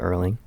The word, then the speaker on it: Erling: Yeah, we had a conversation off camera about Erling. Yeah. Because his name rhymes with curling.